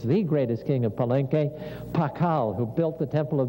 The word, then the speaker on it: Pakal: it's a shield but it's got an l sound on the end of it so it's pakal with a l there or another way of